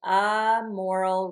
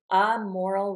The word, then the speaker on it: amoral: So I'd say a moral responsibility, a moral responsibility.